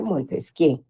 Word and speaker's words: Montesquieu: Se escribe Montesquieu, jóvenes, se pronuncia Montesquieu, ¿oyeron?